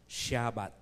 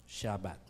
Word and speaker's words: Shabbat: celebrate ang Sabbath day and Israel ang pronunciation nila is shabat shabbat Okay paano nila inoobserve in